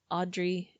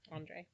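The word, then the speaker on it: Andrey: his relationship with the members of the triumvirate, Audrey and Emile. Andre.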